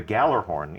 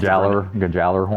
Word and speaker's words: Gjallarhorn: tell you that a rocket launcher called the Gjallarhorn is coming back.